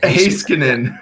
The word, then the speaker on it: Heiskanen: Heiskanen. Yeah, there you go. I sound like Don Cherry pronouncing some of these Something names like that.